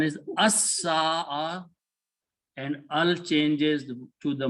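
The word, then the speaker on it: السَّاعَة: Sin is a shamsi letter, it will kill the sound of lam and doubles its sound. So pronunciation is as-sa'a, and al changes to the must one.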